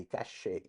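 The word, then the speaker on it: cache: ये है छोटा पॉकेट ऑफ एस रैम, जिसको बोला जाता है कैश मेमोरी, कैशे, असली प्रोनाउंसिएशन। बट कैश बोल दो, सिंपल है, कैचे वैचे मत बोलना प्लीज।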